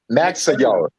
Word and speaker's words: Magsayo: Yeah, Vargas and How do you pronounce his name? Magsayo.